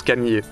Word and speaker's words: Kamije: Je mets le tout dans un cartouche et ça se prononce Camillier.